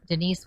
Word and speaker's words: Denice: name is spelled d-e-n-i-c-e it's denise with a c gary g-a-r-y pandel pias